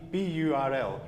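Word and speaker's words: birl: name for in Scotland we call that a a burl or a bule a a ble uh which is spelled b i or you yeah so it's b b u r l right b i r l yeah so a burl is like a burl and a Burl b i r l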